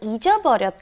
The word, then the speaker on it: 잊어버렸다: We had 잃어버렸다, and then we compared that with 잊어버렸다. And like I said, they are interchangeable at certain situations, but you want to make it very clear when you pronounce it. It's very hard to say.